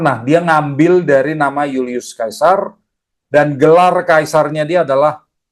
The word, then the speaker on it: Julius Caesar: dari nama keluarga siapa Yulius Kaisar ya saya baca dengan cara orang romawi Ya mereka bacanya Yulius Kaisar kalau sekarang kita sering baca Julius Caesar gitu ya itu cara baca Inggris ya ini orangnya nih